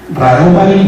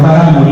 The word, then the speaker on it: Raromari: Raromari, no Raramuri ni Raramuri, porque en esta región la variante dialectal así pronuncia su propia etnonimia, ¿no?